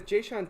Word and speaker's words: Jae'Sean: Jae'Sean Tate.